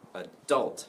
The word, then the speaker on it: adult: two different possible pronunciation my pronunciation in America is where the stress is on the second syllable I'm via too high second syllable adult ok so I'm adult